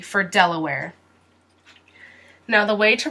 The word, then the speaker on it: Delaware: del uh where where it sounds like the word where like this where del uh where del uh where del uh where Delaware Delaware Delaware Delaware Mexico